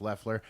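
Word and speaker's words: Loeffler: by kelly kelly lefler waffler lefler spelled loffler pronounced lefler but the democratic challengers uh have both raised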